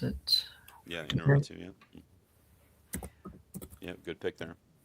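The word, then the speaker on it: Iñárritu: Um, Inaratu, I think that's how you pronounce it. Yeah, Inarritu, yeah.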